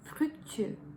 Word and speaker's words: fructueux: And finally, number 10, 10, is fructueux, fructueux, fructueux. So fructueux. So U, fructueux. And again, to help you, you can break it down. So the first syllable is fructueux, fructueux.